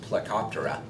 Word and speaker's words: Plecoptera: these are trout candy and that order is pronounced plecoptera and then there's snails which you're all familiar